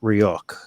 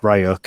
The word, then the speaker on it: Ryuk: to um you know we're talking about ryok here um which john pronounced ryuk and he probably knows better than i do how to pronounce it um but uh you